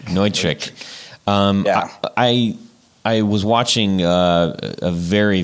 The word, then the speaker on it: Neutrik: So you mentioned on the site that you're using Nutric Connect. Is that how you say it? That's the way I really want to say it, but I think the proper pronunciation is Neutric. Neutric.